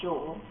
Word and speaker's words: joule: energy there's joules and it's pronounced this Jewel it's like a you might have a ring with a jewel in it or however you want